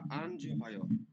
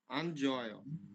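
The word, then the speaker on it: 안 좋아요: আনিও নালশিগা আনজোহায়। হ্যাঁ, হিউটটা উচ্চারণ হবে না, হিউটটা উচ্চারণ হবে না। আনজয়।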